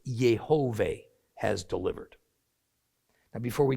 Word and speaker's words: Yehovah: is further evidence that God's name was spoken as 3 syllables, not 2. Now, we can agree to disagree about it. But Yehovah is how you're going to usually hear it out of my mouth throughout this study of the book of Hosea.